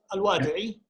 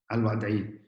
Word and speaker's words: Alwadai: Alwadai, I hope I pronounced it right, Alwadai, is from the International Institute for Iranian Studies. Rasanah, please. It's all good. Alwadai. Alwadai. You pronounced it correctly.